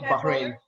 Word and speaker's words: Bahrain: Bahrain. Bahrain. Yeah, you know, I've lived there for a while. You know where he's from, so yeah, Bahrain.